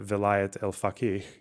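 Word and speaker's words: Velayat-e Faqih: Governance of the Jurist, the Vilayat el-Faqih, the Persian pronunciation.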